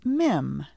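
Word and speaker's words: מם: again lamed the next letter after lamed is mim listen carefully and repeat after me m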